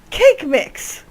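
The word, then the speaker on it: Kaqemeex: Cake Mix! Cake Mix. That's how his name is pronounced.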